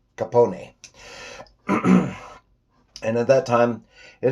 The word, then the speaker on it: Capone: Oh, I guess the correct pronunciation was Capone.